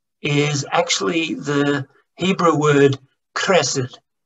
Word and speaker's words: chesed: Because the word love is actually the Hebrew word chesed. It's pronounced chesed.